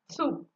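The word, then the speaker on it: つ: Tsu. Actually, the tsunami is a Japanese word. So you just remember that tsu, tsunami.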